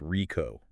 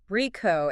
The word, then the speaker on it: RICO: And just so we're all on the same page, that's pronounced RICO. RICO.